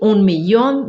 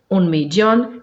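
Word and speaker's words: millón: Eu leio como I, 1.000.000, 10 milhões, 100 milhões. Pode ser também como J, 1.000.000, 10 milhões, 100 milhões. Pode ser como Che, que é a pronúncia rioplatense, parte da Argentina e parte do Uruguai. 1.000.000, 10 milhões, 100 milhões. E também temos a pronúncia GG, que é das demais localidades da Argentina, do Uruguai, parte do Paraguai.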